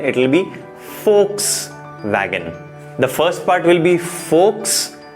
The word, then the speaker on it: Volkswagen: it starts with V, we should say it as Volkswagen or Volkswagen, but absolutely wrong. Please understand that in German और German made brands में जहां पर V होता है, we have to pronounce that as F.